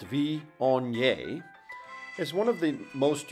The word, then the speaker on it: Viognier: pronounced VI onye is one of the most unique and beloved